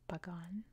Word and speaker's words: Pagan: it that way because it's a p b sound it can be spelled with a p or a B in English so it's pronounced Pagan like just barely use your lips to say Pagan right 938 Vietnamese under